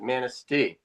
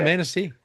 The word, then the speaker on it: Manistee: Is that how you pronounce it? Manistee. Okay. Yeah, Manistee. I had the accent all wrong there.